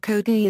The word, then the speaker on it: Chogi: Though the kanji characters are pronounced in Japanese as Ngyoshi, by convention the Chinese pronunciation of Kogi is used for this smith, and a handful of others.